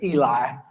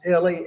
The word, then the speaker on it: Eli: is Ellie e i we would pronounce it Eli but down there it's pronounced Ellie and and some of